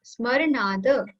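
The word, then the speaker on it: स्मरणाद्: So S would be like, not silent, but very less. Yeah, Smaranada.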